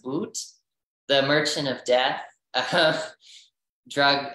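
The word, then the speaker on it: Viktor Bout: I think it's pronounced Boot, the Merchant of Death, drug, not drug dealer, I'm sorry.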